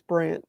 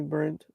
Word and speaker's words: Brandt: Yeah, I mean it's uh Yeah, it's Oh, Craig, it's Brandt. It's B R A N T. That's that's how you spell it. A lot of people I don't really care if you call me Brent.